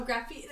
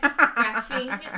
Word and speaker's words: graphene: What are other graphene? And that's what my brain went. Graphing. No, she didn't say ing. She said ing. Graphene.